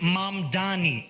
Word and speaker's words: Mamdani: former governor Andrew Cuomo and younger progressives like M Donnie, a state assemblyman and a self-described Democratic socialist. The name is M Dani.